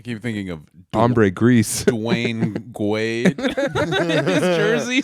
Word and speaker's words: Dwyane: Well, and speaking of dumb name, like Dwayne is spelled DWYANE. Yeah. That doesn't make any sense. It's spelled like Wayne with a D.